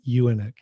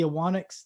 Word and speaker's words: Ewanuick: Anyway, so because there's a U in there, which is you don't say.